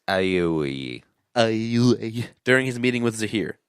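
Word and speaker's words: Aiwei: How do you pronounce that? I've already forgotten. It's Aiway.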